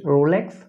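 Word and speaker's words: rouleaux: নাম আছে সেটা হচ্ছে রোলেক্স ফর্মেশন ওয়েট। এইখানে তোমরা বানানটা দেখতে পাচ্ছ সেটা হচ্ছে রোলেক্স, কিন্তু উচ্চারণের সময় এই এক্সটা উচ্চারণ হবে না, অনেকটা এমনভাবে উচ্চারণ হবে রোলো এই টাইপের।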